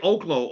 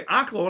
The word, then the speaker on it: Oklo: It looks like Oaklo. Okay. L O, right? I think it's Oaklo, but everybody I heard three or four people say Oclaw and I said, "Damn, I think I've been mispronouncing it."